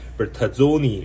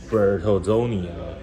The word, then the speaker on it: Bertazzoni: 大利品牌啊，叫做 Bertazzoni 哈、啊，不知道发音是不是标准哈、啊。